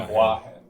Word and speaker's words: Boahen: It's the accent on Boahen is on bois, not the hen. Okay, I messed that it's up. actually Boahen.